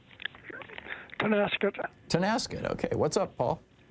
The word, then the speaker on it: Tonasket: Paul in Tonasket, Washington. Am I saying it right? Tonasket.